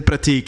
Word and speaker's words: Prateek: to pronouncing it the way it should be pronounced. Hell yeah. All right. Kudos. Dhaval. Kinda. All right. And then Prateek is just Prateek for you two.